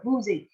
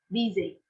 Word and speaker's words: busy: Thỉnh thoảng cô cũng có nghe sinh viên đọc boozy. Cái này bạn nếu mà mình đã đọc nhầm thì mình đổi lại cho cô. Busy, âm y, busy.